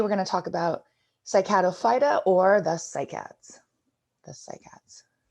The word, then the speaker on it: Cycadophyta: the common name so uh the way you pronounce that is on the bottom here cycado phyta remember when you see that ending phyta you